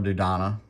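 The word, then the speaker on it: Dodonna: of the jedi luke i've never had general dudana is how you actually pronounce it and i've had quite a few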